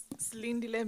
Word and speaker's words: Slindile: I can just say, but the full pronunciation is Slindile means being patient.